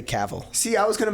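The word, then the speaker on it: Cavill: sounds weird Henry caval I was thinking about how you used to pronounce it or I said cavil yeah D they were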